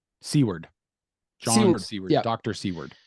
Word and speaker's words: Seward: And then there's a kind of a conversation with him and Jon Stewart. It's not Stewart, it's pronounced Seward.